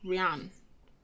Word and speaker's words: Rian: It's like Rihanna, but without the A on the end. Rian.